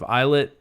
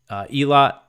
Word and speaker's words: Eilat: So Israeli officials said that there was a missile fired from Yemen towards the Israeli port of Eilat. That was Eilat, E-I-L-A-T. I always forget how to pronounce that.